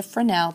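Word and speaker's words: Fresnel: par okay it's also known as a frenel that's its official name because it was invented by a guy named frel and I know I'm sorry the S is silent kill me these people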